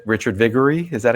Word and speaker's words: Viguerie: Richard Viguerie.